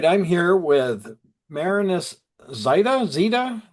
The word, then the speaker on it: Zyta: Zita? How do you pronounce it, Marinus? You got it, Zyta.